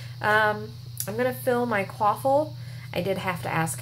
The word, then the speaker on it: Quaffle: I'm going to fill my quaffle. I did have to ask how that was pronounced, by the way.